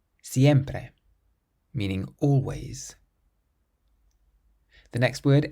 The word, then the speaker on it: siempre: Then we have another word that ends in a vowel, so we can stress the syllable before last. Siempre. Siempre.